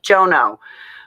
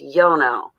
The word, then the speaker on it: Jono: Because I'm always like Jono. But then I heard someone from another country say his name, and it's Yono. Not like I slaughter his name.